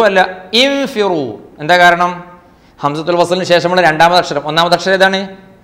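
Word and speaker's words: انفِرُوا: അംഫിറു അല്ല, ഉംഫിറു അല്ല, ഇൻഫിറു.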